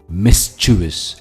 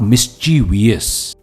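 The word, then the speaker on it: mischievous: पर है वो है मिच विस मिसचिवस एंड नॉट मिची वियस मिस्टस का मतलब होता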